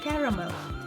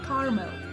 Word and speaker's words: caramel: British English usually has 3 syllables with the stress on the first, so it's caramel. For instance, I love the taste of caramel sauce. American English often pronounced with 2 syllables, making it sound more like caramel, so it's caramel or caramel.